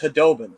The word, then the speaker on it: Khudobin: And then it finally came to, oh, no, it's Khudobin. That's how you properly say it.